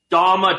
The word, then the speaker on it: Daime: The Dama Church, Daime, I don't even know how you pronounce that. How do you pronounce it? Daime Church.